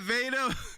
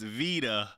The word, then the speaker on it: Vita: Uh, yo, my bad, Vader. I shouted out Vader, my video. They said, "Bobby, I'm a girl and my name is pronounced Vita."